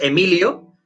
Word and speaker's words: Emili: Que haya dicho, se escribe Emili, sí, es Emili, es en catalán, el nombre es Emilio, pero en catalán se le pronuncia Emili, ¿vale?